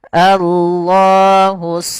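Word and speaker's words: الله: Lafaz Allah tebal dan lafaz Allah sendiri punya bacaan yaitu hukum tajwid berupa mad thabi'i panjangnya dua harakat.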